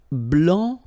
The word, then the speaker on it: blanc: So here, masculine, blanc, don't pronounce the final C, and then blanche, okay?